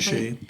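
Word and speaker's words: Souchez: Now, he lost his life during the Suchez River campaign, if I'm pronouncing that correctly. Suchet, yep.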